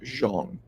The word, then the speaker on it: Zhang: Post about him and Jang pronounced actually Jang little known fact his name should be pronounced Jeong but big bang big